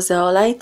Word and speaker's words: Zeolite: Trio pochodzili od zwierząt ich imiona wymawiać można także jako zeolit oraz ksenotym i mają swoje szczególne